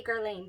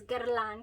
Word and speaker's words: Guerlain: That's how you say it, by the way. I looked up a video and I was like, how do you say Guerlain? Because I say Guerlain, but it's Guerlain because it is French.